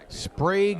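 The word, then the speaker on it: Sprague: in Castro Valley California spra has the distinction of probably having the longest last name that's only one syllable s p a g u e seven letters one syllable that's not easy to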